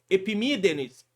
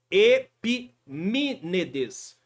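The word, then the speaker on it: Epimênides: antes de Cristo que na verdade a pronúncia seria epides e me tá epinetes é um pouquinho chato mas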